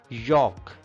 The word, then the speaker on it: yolk: Yolk. Yolk. L is silent here.